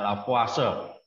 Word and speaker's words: Lavoisier: Orang Prancis ya, bacanya Lavoisier.